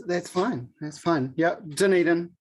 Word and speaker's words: Dunedin: fine that's fun yeah dunedin is how i say it there you go yeah